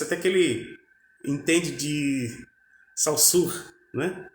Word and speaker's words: Saussure: Parece até que ele entende de Saussure, né? Ou a pronúncia correta seria Sucy, né? Sucy.